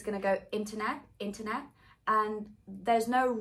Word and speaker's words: internet: last t could be a true tea like internet it could be a glottal t like internet